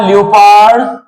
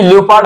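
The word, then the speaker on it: leopard: तो द लपार्ड। अच्छा एक बात तुमको बताएं। ये ल्यूपड हमने बोला। हमने भी गलत बोला। इसमें ओ साइलेंट है। इसको पढ़ते हैं लेपर्ड।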